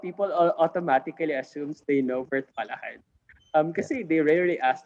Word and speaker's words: Virtualahan: because we've made some history in the social enterprise space, in Philippines on the map, using Virtualahan. So it's pronounced Virtualahan.